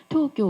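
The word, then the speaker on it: 東京: 올림픽 누구나 다 기억하죠 일본의 토교 올림픽 일본 발음으로는 토교 올림픽입니다 일본의 초교 올림픽은 여기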